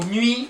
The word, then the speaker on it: nuit: So nuit, don't pronounce the last T, you know, Thomas rule, don't pronounce the last letter, nuit.